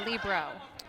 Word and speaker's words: libero: I mean, when Karch Cry calls it the libero, how do we argue with that? It's not how it's spelled. No, but it's from the word free in Italian, which is pronounced libero, right?